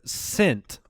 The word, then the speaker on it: scent: All right, Vivian from the website wants to know, is the C or the S silent in the word scent?